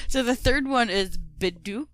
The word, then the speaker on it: Bedok: brain lied to me Boke right yeah yeah bedok Reservoir so yeah that Reservoir had a Spate